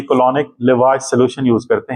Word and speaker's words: lavage: Then is a oral colonic लेवाज solution, इसको लेवेज भी बोलते हैं, मैं लेवाज बोलता हूं इसको, अमेरिकन शायद प्रोनाउंसिएशन लेवाज है।